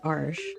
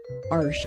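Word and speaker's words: Arches: My favorite is Arsh. Arsh. I know. I I learned how to pronounce that. Arsh.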